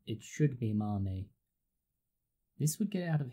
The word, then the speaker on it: mame: specific size of bonsai mommy sometimes this is pronounced as main but properly said it should be Marnie this would get out of hand so to